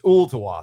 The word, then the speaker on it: Ooltewah: I leave the L in there. It's Ooltewah.